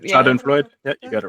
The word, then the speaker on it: Schadenfreude: Schadenfreude?